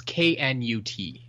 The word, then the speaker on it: Knut: It's Knut. She totally pronounced it newt then. Okay. What's the correct pronunciation? I have no idea. Okay, so not as in Newt, little tiny salamander lizard type of creature. Yeah, it's Knut.